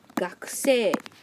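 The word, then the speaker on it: 学生: Now, student in Japanese is pronounced as gakusei. Repeat. Gakusei.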